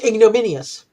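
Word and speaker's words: ignominious: And if I pronounce things correctly as the villain, yes, it is pronounced ignominius.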